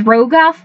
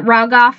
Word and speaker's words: Rogoff: not everyone can pronounce my last name which is Rogoff but everybody pronounces it Rogoff or rag off and I'm just like no no that's not my name anyway another book that